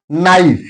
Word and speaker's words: knife: Knife here K is silent.